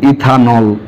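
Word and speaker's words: ethanol: ইথেন থেকে ইটা বাদ যাবে এবং ওয়েলটা যুক্ত হবে, উচ্চারণ হয় ইথান অল, ইথানল।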